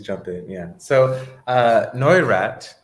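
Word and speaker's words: Neurath: in yeah so uh noirat is how you pronounce his name it looks like a new wrath but it's no iraq um he is quite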